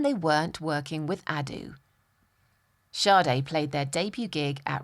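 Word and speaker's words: Sade: charts around the world even if nobody knew how to say it shardai were heading for the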